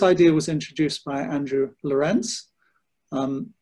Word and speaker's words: Lorenc: was introduced by Andrew lorence um despite the C at the end it's pronounced like lorence